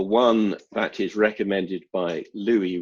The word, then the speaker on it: Louis: that is recommended by louis rossman or lewis if you want to use his uh american pronunciation now i know some